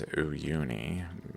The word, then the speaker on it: Uyuni: but still this current went through, and here's Uyuni location at the end of this.